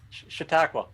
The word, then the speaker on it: Chautauqua: Okay, we'll let you pronounce the lake name. Chautauqua. Have you fished it? I told you Chautauqua.